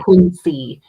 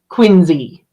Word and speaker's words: Quincy: I can't ever say Quincy because he'll divorce me. But how So how do you say it correctly? Quinczy like with a Z with a Z.